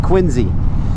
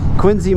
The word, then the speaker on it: Quincy: I don't care how the guy who was named after pronounced his own last name. Times have changed, sir. It's Quinzy.